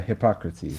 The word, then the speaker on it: Hippocrates: Yeah, Hippocrates. See, Yeah. I said it right. I know. I was just being messy and joking. Because his name looks like hypocrite.